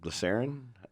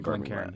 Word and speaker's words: Glencairn: Glycerin? How do you say that? Yeah, the Glencairn.